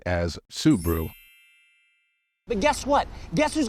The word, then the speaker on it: Subaru: second syllable and say Subaru however the stressed syllable in this word is the first one so it should be pronounced as subu but guess what guess